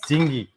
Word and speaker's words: dinghy: a dingy veranda and no not dingy sorry not gingee in like dark and dingy sorry oh my wrong pronunciation yes dinghy a dinghy a little dingy